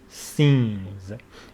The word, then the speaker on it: scenes: Words beginning with SC are pronounced S, so it is scenes, all the scenes.